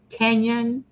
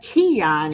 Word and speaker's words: Kenyon: had memberships meet and I think I said your last name correct Kenyon yes yes I was like Keon at first I'm like no I think I'm saying it wrong anyway John meet Tommy